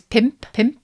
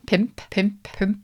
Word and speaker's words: pump: 5 is pimp. It's spelt pump, which is quite fun. Pimp. Oh, that is a bit like pump, but with a different accent. Pimp. Relax your lips, but pump. Because you need 5 fingers